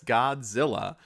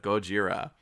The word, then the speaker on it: Gojira: And he even mispronounces the name as Godzilla instead of Gojira.